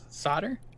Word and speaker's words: solder: you say that word s Oh lder like soldiering solder solder yeah that's it solder yeah that's the American Way the Americans can't pronounce anything we drop the LDL silent he's like